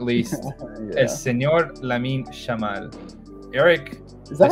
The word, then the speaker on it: Yamal: least, is Señor Lamine Yamal. Eric, is that how you pronounce it? No, it's Yamal. The thing is, like, in Argentina and Uruguay, they pronounce the Y as a She, so it's like, Yamal.